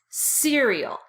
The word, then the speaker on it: cereal: Now, they're both pronounced like this, cereal. Make sure you put a lot of emphasis on that first syllable, cereal.